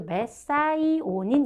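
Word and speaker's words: methionine: 그래서 어렸을 때 혹시 메티오닌이라고 하는 아미노산을 들어보셨다면 그 메티온의 영어식 발음이 메사이오닌이거든요. 그래서 요즘에 우리말도 메사이오닌 이렇게 써요.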